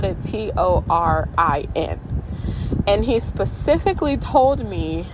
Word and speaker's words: Torin: okay he spelled it t o r i n and he specifically told me that Torin is not Tor or Thor how we say it